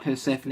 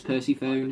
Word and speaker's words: Persephone: two games back when people mispronounced persephone as percy phone so you know i'm